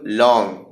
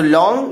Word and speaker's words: langue: He used the term langue, LANGUE. നമ്മൾ ലാങ് എന്ന് പലപ്പോഴും പറയാറുണ്ട്, പക്ഷെ ലോങ് എന്നാണ് അതിൻ്റെ ഉച്ചാരണം എന്നുള്ളതാണ് ഞാൻ മനസ്സിലാക്കിയിട്ടുള്ളത്.